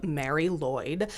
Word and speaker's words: Mari Lwyd: but I love her thanks to my friend KA for helping me with the pronunciation of Mary Lloyd um if you're from Wales and you think I'm doing it wrong don't yell at me because I went to a Welsh person I went to the source for this pronunciation so do not yell